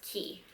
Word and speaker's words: Quay: the label key australia so it's spelled q-u-a-y but it's pronounced key again with her permission